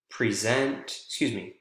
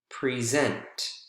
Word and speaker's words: present: shared with you that two-syllable nouns, more often than not, are usually stressed on the first syllable. We looked at examples together there. Present, export, China, and table. Whereas with two-syllable verbs are usually stressed on the second syllable. And examples of those: present, export, decide, begin.